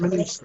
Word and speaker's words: Muniz: Is it Muniz it's pronounced? Muniz, yeah.